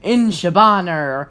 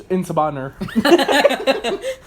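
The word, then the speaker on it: En Sabah Nur: Inshabaner. Whoa, is that how you pronounce it? No, it's Insabaner.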